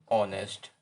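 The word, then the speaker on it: honest: एच जो है ना ये हिडन शब्द है, इसको हम उच्चारण में यूज नहीं करते। हम केवल इसको उच्चारण में ऑनेस्ट बोलते हैं। क्या बोलते हैं? ऑनेस्ट।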